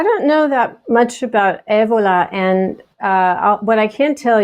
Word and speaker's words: Evola: Is that right? Did I say it right? Yeah, Evola. Evola. That's so much better.